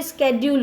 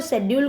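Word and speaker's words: schedule: राय हो या कोई स्केड्यूल हो। बच्चों शेड्यूल को अब हम स्केड्यूल पढ़ते हैं, इसका प्रोनाउंसिएशन स्केड्यूल हो गया, तो आप लोग भी स्केड्यूल पढ़ेंगे लाइक एडवांस स्टूडेंट्स जैसे।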